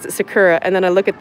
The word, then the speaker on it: sakura: Tell them how to say sakura.